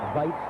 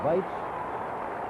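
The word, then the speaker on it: Waitz: Well, she pronounces it Weitz, it's a W, but says Weitz.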